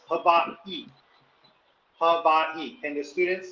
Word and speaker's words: Hawaii: There's a little pause. Hawaii.